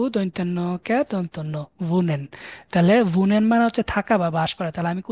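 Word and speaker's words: wohnen: বড় ভি আছে না আমাদের ভি এর মত উচ্চারণ হবে তাহলে ভি দিয়ে ভি ও হাহা এন এন ভুনেন ভৌকার ভু দন্তন্য দন্তন্য ভুনেন তাহলে ভুনেন মানে হচ্ছে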